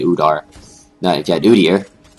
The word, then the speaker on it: Udyr: Now, if you had Udyr, I heard this one guy complain that Udar is not the right way to pronounce it. But I'm not really, I don't really care much about pronunciation since it's a name.